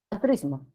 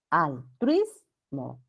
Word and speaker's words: altruismo: Son cerradas diferentes y forman parte de la misma sílaba. O sea, hay diptongo ahí. Ya. Altruismo. Truis. Ya. No es altruismo, no. Altruis. Es uno solo.